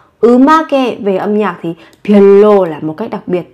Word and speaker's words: 별로: 별로, 별로, 별로. Một cách đặc biệt. Các bạn phát âm giống với âm L.